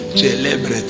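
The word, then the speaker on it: celebret: C'est comme ça qu'un prêtre prononce célébret.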